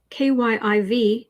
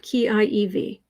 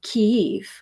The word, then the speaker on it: Kyiv: I did hear that the Russians pronounce the name of that city as Kiev, but the Ukrainians pronounce it as Kyiv.